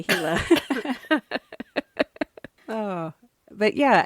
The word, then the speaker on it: Gila: which are terrif by the way it's not Gila it is not Gila it's heila it's pronounced g i l a Chila heila monster sorry on behalf of all arizonans please say hila oh but yeah it's it's a fascinating I've